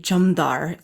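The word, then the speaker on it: jamdhar: then some people know the qatar as the jamdar spelled j-a-m-d-h-a-r and that comes from persian it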